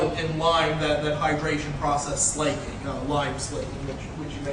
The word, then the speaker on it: slaking: Some people use the term slacking. I've never come across any reference that that's the correct pronunciation. So slaking, much like slaking your thirst.